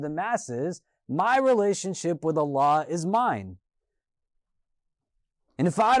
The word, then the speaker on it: Allah: of this conversation, literally, the name of our God, Allah, is phonetically such a way constructed that the alif comes from the throat, the lam is now elongated from the fullness of your mouth, and the ha is aspirated as a breath comes from you.